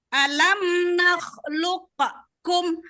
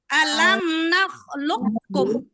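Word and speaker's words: ألم نخلقكم: Jadi makanya alam nakhluqakum. Ada dibaca alam nakhluqakum dah. Tapi bacanya Nakhluqkum. alam nakhluqkum. Ya. Alam nakhluqkum. Gitu.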